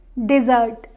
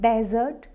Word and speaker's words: dessert: Now next word is dessert, dessert. It is not desert. Desert is different. This one is desert. This is dessert. It is desert. If you see the difference, here first syllable is stressed.